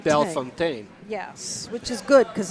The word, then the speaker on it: Bellefontaine: name correctly, which is Bellefontaine. Bellefontaine. Yes, which is good because I have been mispronouncing it for years. That extra little E in there kind of threw me off.